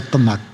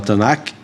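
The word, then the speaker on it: Tanakh: Aliás, cada sílaba do nome tan que eu falo ou tc, como alguns falam, eu falo Tanac. Eu falo Tanac.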